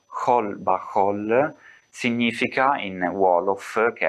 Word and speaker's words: Xol Baxol: Tanto che la stessa scritta Xol Baxol, che in realtà si pronuncia Khol Bahol, significa in Wolof, che